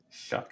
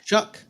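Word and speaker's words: Shough: Just so y'all know, it's pronounced Shuck. Shuck.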